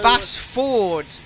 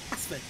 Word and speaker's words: Basford: Bassford, YouTube, not something else. Yeah, Bassford. Yeah, Bassford. If you would like a clarity there, YouTube, that is spelled B-A-S-F-O-R-D. Bassford.